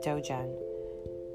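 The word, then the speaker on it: Dzogchen: meditation practice known as dojon d z o g c h e n d z o g c h n so i believe i pronounced it right i'm pretty positive that's dojon when accomplished dojin masters die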